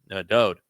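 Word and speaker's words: דוד: And when his father, Yahweh, spoke of him in the 89th Mizmor, it's all written Daleth, Wah, Daleth, which is pronounced Dode.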